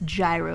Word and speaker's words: Gyro: always pronounce that word it's gyro like a gyro ball or something like that I still like him